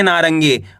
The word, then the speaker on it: नारंगी: नारंगी। आपको करनी क्या है? र को ऊपर अनुस्वार की मात्रा है। इसका उच्चारण तेजी के साथ निकालना है। नारंगी। यानी कि आधा न का उच्चारण निकलेगा नारंगी। आया समझ में?